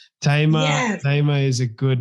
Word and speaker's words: Thema: not be seeing it, the H is what throws people off because the H is silent. So I usually get the Thema, or some people think I left the L out and they'll say Thelma.